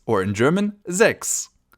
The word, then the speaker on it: sechs: Our next number is one of the easiest of them all, the number 6, or in German, sechs. Sechs. As you can see, pretty easy to pronounce, and the only big difference is the orthography, so the spelling of the word.